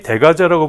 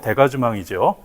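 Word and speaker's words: dégagement: 펜싱의 대가제, 펜싱에서 흔히 대가제라고 부르는 건 정확한 발음은 대가즈망이죠.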